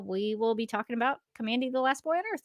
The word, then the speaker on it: Kamandi: get it confirmed that it is pronounced Kandy notand so we'll talk about